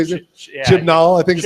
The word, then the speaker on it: Chibnall: Is it Chibnall? Is that how you say it? Yeah, Chibnall, I think is how you say it. Chibnall.